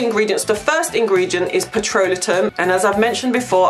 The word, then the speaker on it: petrolatum: So for the ingredients, the first ingredient is petrolatum. And as I've mentioned before, I'm not pronouncing it incorrectly. It is petrolatum.